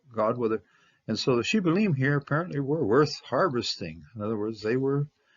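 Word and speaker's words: שיבולת: because back in Ephraim, the way they pronounce it is Shibboleth. They pronounce it a Samic rather than a Sheen.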